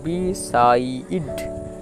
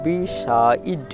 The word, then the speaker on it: beside: একটা ওয়ার্ড যে থাকবে, ওয়ার্ডের শেষে যদি ই থাকে, এই ওয়ার্ডের শেষে ইর উচ্চারণটা হয় না, সাইলেন্ট থাকে। তাহলে BEতে BSI সাই, আর DEতে ড, তাহলে বিসাইড, বিসাইড, বিসাইড মানে হলো পাশে।